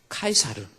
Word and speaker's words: 카이사르: 무슨 뜻이 나는 거예요 그래서 가이사 라고 하는 것은 영어식 발음이 고 원래는 카이저 입니다 카이저 카이사르 라고 하는 이 카이사르 라는 거죠 이 사람은 카이 사는